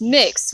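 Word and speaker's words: Mx: While the common pronunciation mix does seem very based on the pronunciation of miss, some other people do pronounce the word more similarly to Mr., pronouncing it mixter or mixture, which is where the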